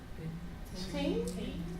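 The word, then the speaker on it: 听: Ting? Ching. Wow. Ching. That super duper, highly complicated, hard to pronounce, multi-syllabic, multi-worded word was pronounced ting. Ting. The TA said, think about two pieces of glass coming together.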